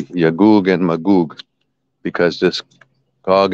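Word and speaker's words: يأجوج: Just like in Arabic, we have Yajuj and Majuj. There is no G sound in Arabic. So they say J, but it actually should be Yagug and Magug, because this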